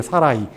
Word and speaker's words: 사라이: 히브리어로이 점이 하나 딱 찍히면은이 발음을 뭐라고 하냐면은 아이라는 그런 발음으로 끝납니다. 그래서이 요드라는 이것이 사실 사르 뒤에 딱 찍혔어요. 그래 가지고 발음이 어떻게 되냐면 원래 사레가 아니고 사 정확하게는 사라이에요. 사라이 사라이 사례 이게 뭐냐면